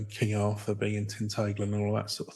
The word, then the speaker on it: Tintagel: How do they pronounce that? Tintagel.